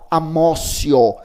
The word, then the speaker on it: amotio: Por isso é chamada de teoria da apreensio, ou teoria da amócio. Amócio se escreve com T, se escreve amotio, né?